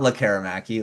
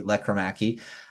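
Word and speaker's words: Lekkerimäki: gonna mention Jonathan leaki I'll say his name correctly uh because it's not laraki leaki uh he he's been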